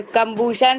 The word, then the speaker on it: combustion: पूछ दिया कि सर कंबशन ये होता है, कंबशन वो होता है। सर हाँ, बोलिए। सर कंबूशन सर एक तरह का केमिकल प्रोसेस होता है नॉट जिसमें कंबूशन, सर।